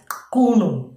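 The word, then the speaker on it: Qunu: Pronounce करना थोड़ा अजीब सा है। कुनू ये आज आपका होमवर्क रहेगा। प्रोनाउंस इट एज कुनू।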